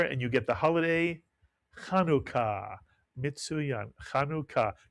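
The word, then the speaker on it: חנוכה: Put the word together and you get the holiday, Chanukah, mitsuyan, Chanukah, 2 syllables.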